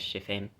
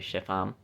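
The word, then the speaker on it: Shepham: And the coast shall go down from Chiffam because I mispronounced it as shephim. It's actually Sheffam.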